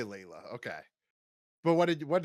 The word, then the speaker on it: Leela: to search I'm I'm I think it's Leela we gonna do Leela we gonna say Leela okay but what did